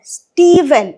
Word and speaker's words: Stephen: Though we write PH here, we are not going to pronounce it as F. We are going to pronounce it as V. Stephen, not Stephen.